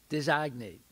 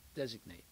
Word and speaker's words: designate: You said, designate. Now, that you're putting in French, you put the accent on the second syllable, design, right? But in English, you put it on the first syllable, designate. You see?